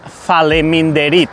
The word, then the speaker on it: faleminderit: Thank you is "faleminderit", five syllables. "Fa-le-min-de-rit", "faleminderit". Përshëndetje, faleminderit.